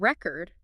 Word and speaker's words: record: oh really for example the word record can be a noun or a verb okay if we stress the first syllable record it's a noun meaning a written or digital account of something something right but if we stress the second syllable record it's a verb meaning to preserve something in writing or audio